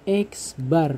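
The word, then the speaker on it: x̄: ada lambang seperti ini ini dibacanya adalah x bar ya dibacanya X bar artinya mean atau nilai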